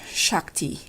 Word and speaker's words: Shakti: You pronounce it Shakti, and for us, we say Sakti, so we just lost the sh.